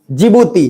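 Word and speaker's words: Djibouti: बाद D फॉर जिबूती, D silent है, जिबूती।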